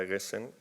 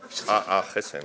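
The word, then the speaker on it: Aagesen: de Transición Ecológica, Sara Eggesen, bueno, realmente no sé cómo se pronuncia. Sí, yo tampoco. No, Aggesen. Aggesen. ¿Cómo? Aggesen. Aggesen. Vale, Aggesen.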